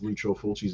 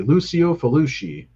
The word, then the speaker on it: Lucio Fulci: It's not my favorite of Fulci's movies, but I also like the way people mispronounce Lucio Fulci's name. They say Lucio Fulci or some shit like that. It's Lucio Fulci.